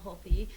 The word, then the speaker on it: Holthe: Holthe, or on Instagram at Holthe. Holthe, yeah. And we should say is spelled S-H-A-U-N-A.